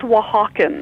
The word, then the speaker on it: Oaxacan: mean I think that is absolutely beautiful it's pronounced Oaxacan well Hawkins yeah I guess I had a